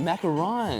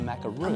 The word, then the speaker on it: macaron: I've been saying it wrong my entire Same. life. I just learned today from Joe that it's macaron. Macaron. Yes. Okay, not to be confused with a macaroon.